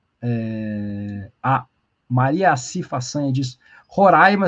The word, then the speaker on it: Roraima: a Maria faanha diz Roraima se pronuncia como se tivesse acento agudo no ar é hoje vai ser